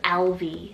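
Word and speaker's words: Elvie: then for another cutesy one it's the name lv cell e-l-v-i-e-l-v and this one's irish rooted meaning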